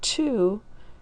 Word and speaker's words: two: but in the word two this part here is tricky right we don't pronounce the w anymore and we know that